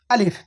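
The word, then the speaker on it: ألف: অনেকেই আলিফ উচ্চারণ করে আলিফ বা আলিফ। আলিফ এগুলো এই ধরনের উচ্চারণ হবে না। বরং সিম্পল উচ্চারণ হবে আলিফ।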